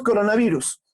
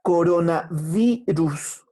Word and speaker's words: coronavirus: Decimos coronavirus, pero todos decimos con la B, pero coronavirus se escribe con V. Profe, entonces tendría que decir coronavirus, ¿te das cuenta? La punta de mis alvéolos está tocando con la parte inferior de mi labio, o con mi labio inferior.